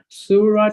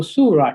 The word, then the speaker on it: Surah: When you read the first chapter of the Quran, it says Surah 2, that's a scene with a Dhamma. Wow makes it a long U sound. Su, then Ra with a Fatha.